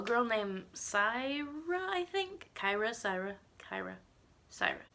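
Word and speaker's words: Cyra: Syra. It's C-Y-R-A. That's how you spell it.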